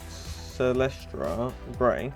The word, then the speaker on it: Celestra Grey: Now we're going to highlight our bases with Celestra Grey.